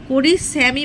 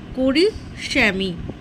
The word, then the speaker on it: করিষ্যামি: উত্তম পুরুষটা দেখো, এখানে করিষ্যামি বানানটা দন্তস্বয় জফলা রয়েছে, কিন্তু দন্তস্বয় জফলা হবে না, ওটা হবে পেট কাটা মূর্ধন্যস্বয় জফলা আঁকা ময়হস্যই। করিষ্যামি, করিষ্যামি উচ্চারণটা স মূর্ধন্য স।